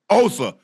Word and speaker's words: Osa: pay back what o o digua did I pronounce that right Osa Osa yes y it's good to be here guys